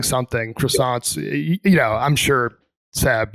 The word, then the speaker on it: croissant: Croissants, you know, I'm sure Seb you and Charles know croissants. And on the pizza thing like it is silent. It's it's croissant. You don't say.